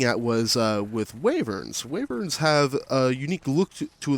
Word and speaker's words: wyvern: would believe a true waiver now some of you guys you might pronounce it as wyvern I am NOT gonna judge you even though pronouncing it wyvern does drive me a little bit crazy but she embodies the